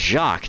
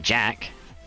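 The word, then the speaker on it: Jacques: name it's jacqu deay that's jacqu not Jack I created a singularity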